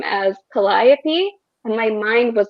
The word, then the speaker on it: Calliope: made sense but the audiobook um sort of pronounces calliope's name as calliope and my mind was like yeah but sarah